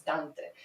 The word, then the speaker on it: Dante: Also it is painful for me to pronounce Dante as Dante and not Dante. Um, that's very, yeah, that's very English, but Dante is is a Latin word, right? It's it's Italian. It's Dante.